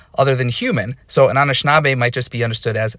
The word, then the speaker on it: Anishinaabe: These are all ways we can understand the word Anishinaabe. But, going back to our Spider-Man friends here, we have a lot of versions that just start with an N here. Nishinaabe, Nishnabe, Nishnabe, Nishnabe.